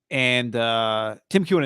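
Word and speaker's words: Keown: Tim Kewen and Nick Wagoner.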